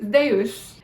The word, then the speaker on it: Zeus: Zeus is Zeus. You're probably like, what the hell? It's got a D in it? Yeah, so the zeta in Greek actually is pronounced like zd, as in the word wisdom.